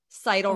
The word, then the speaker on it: Seidel: Seidel rhymes with title.